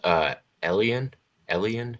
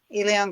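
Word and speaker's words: Elián: Perth says, Elian, is that how it's pronounced? Elion, yeah.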